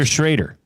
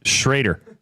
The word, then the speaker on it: Shrader: Spencer Shrader. How do you spell that? Spencer. Well, I'll just lead the last name. Shraider.